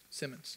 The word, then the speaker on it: Simmons: And is it Simmons or Sims? I don't want to be saying it wrong. Simmons, right? Simmons, yeah.